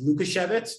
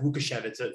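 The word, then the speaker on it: Łukasiewicz: logician luka chevitz right it's written luka shevitz but uh it's pronounced wukashevitz from what i understand more recently um grand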